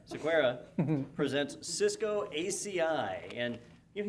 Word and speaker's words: Sequeira: The talk is actually, it's just labeled Cisco CCIE Anthony Sequeira. I did say it wrong that time, didn't I? Sequeira presents Cisco ACI.